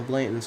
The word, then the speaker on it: Blanton: Mama Blanton's house, that was my favorite place in the world. I mean, no, that's not how it's said. Why am I saying it like that? Mama Blanton's house was my favorite place in the world.